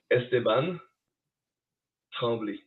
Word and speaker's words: Esteban Tremblay: You got to say it and say how do you pronounce it? One more time? Esteban Tremblay.